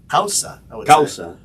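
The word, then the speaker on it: Cauca: from uh oh my God I can't even pronounce this kausa kauka how do you say c-a-u-c-a Matt in espanol hausa yeah elevated coffee with stone fruit Citrus cocoa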